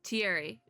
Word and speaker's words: Thierry: Thierry. The H is silent.